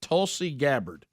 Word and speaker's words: Tulsi Gabbard: I would say it Tulsi Gabbard. Is that correct? That's it.